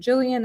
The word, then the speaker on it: Gillian: name um because I was like is it Jillian is it Gillian it is Gillian Flynn um and it's a mystery but it's